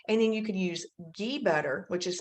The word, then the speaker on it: ghee: 100 it's 66 and then you can use ghee butter which is spelled g-h-e-e butter it's butter it's just been